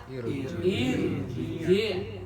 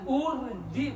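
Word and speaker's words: ارجعي: Irji. Paham ya? Jadi jangan urji pakai dua. Gitu kan? Ya. Jangan arji om Duan. Tapi jangan ragu karena huruf ketiganya berharkat kasrah, maka dibaca irji.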